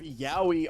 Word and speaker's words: Yaoi: Ladies and gentlemen, we have our first piece of yaoi art between me and Raz. Oh God. Yaoi rhymes with owie.